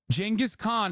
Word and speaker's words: Genghis Khan: Genghis Khan is how you say it, you fucking idiots.